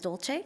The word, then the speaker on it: Dulce: Dulce? So my name is pronounced Dulce, but as many of my students know me as Dolce because it's easier to pronounce.